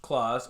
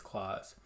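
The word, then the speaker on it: Klaus: on sunday we watched claus or class i don't know how it's pronounced i think it's claws it is an animated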